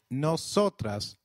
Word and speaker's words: nosotras: The plural form we translates to nosotros for males and nosotras for females. Can you try that, please? Nosotros and nosotras. The Y is pronounced like the English Y in some areas,